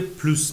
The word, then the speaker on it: plus: پول و بواغ پلوس دو وان. پلوس دو وان. یعنی پول میخواد شراب بیشتری بخوره. اس تلفظ میشه.